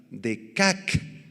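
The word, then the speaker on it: deqaq: atropellar pisotear o atropellar y la tercera palabra despedazar de cac con q d e q a q de cac significa romper en pedazos o quebrantar así que vamos a eh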